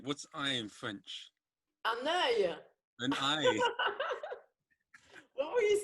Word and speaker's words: œil: The way you read it, it's like it sounds like bloody oil. It looks like oil. It should be said oil. And it's œil.